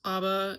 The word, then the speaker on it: ABBA: and it's definitely for ABA fans, ABBA fans. Sorry, it's not pronounced ABBA. It is for the ABBA fans and I am one of them.